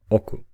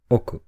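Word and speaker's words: 億: with this meaning and only one on reading oku again oku oku do you really understand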